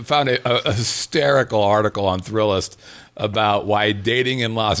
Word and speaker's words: Thrillist: catch well it's the when you put thrill list together there's too many L's it's pronounced thrillist thrillist there's too many